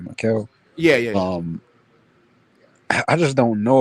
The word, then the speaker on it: Mikal: So, what do you think about Mikal Brown Jr., man?